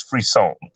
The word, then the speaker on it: frisson: Because some people like, is it Frisson? Is it Frisson? What is it? I'm like, no, it's Frisson.